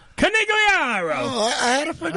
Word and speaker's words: Conigliaro: My last name is pronounced Conigliaro. Conigliaro.